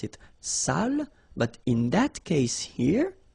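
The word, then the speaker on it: sale: the accent it means dirty and then you pronounce it Sal but in that case here okay you put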